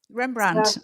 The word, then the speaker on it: Rembrandt: Rembrandt. Yes, you probably pronounced it properly. In English, Rembrandt. It's straight Rembrandt.